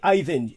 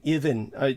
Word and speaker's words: Ivan: even Sanderson even I Ivan Ivan Sanderson oh Ivan Sanderson yes yeah yes I mean my dad always called him even apparently that was the way the British pronounced it and uh so